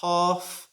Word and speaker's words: half: as i sometimes hear there are other words in english that have silent l's like half and cough you should not pronounce